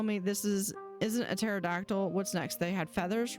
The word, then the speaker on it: pterodactyl: read is called, uh, P for P for pterodactyl. It's all about books that it's all about words that the first letter is silent.